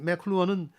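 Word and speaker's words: McLuhan: 그 마샬 한국에선 맥루한이라고 그러는데 미국 사람들 발음으로는 맥클루언이라는 사람이 1964년에 유명한 미디어의 이해라는 책을 내는데요. 이걸 소개합니다. 이 맥클루언은 지구촌 글로벌 빌리지라는 용어를 만들어내서 네.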